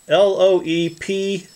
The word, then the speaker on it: LOEPFE: It says LOEPFE, L-O-E-P-F-E, and I guess that's how you pronounce that, LOEPFE.